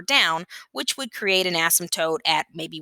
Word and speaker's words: asymptote: has what's called an asymptote i know it's a very strange word the p is silent an asymptote is a